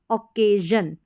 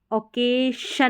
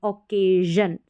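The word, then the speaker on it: occasion: जैसे यहाँ पर है ओक ए, ये है जन, ओकेजन, ओकेशन नहीं पढ़ेंगे, ओकेजन। समझ में आ गया? क्योंकि SION से पहले वाउल लेटर है ए।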